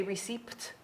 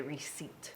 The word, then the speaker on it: receipt: it is it's crazy how does p become silent because do you do we say receipt no we say receipt in my head i